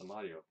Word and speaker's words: Amadio: Or is it Mario? Is it Mario? I know we were saying it wrong the first few times, and then we corrected ourselves. Get some, yeah, it's a Mario.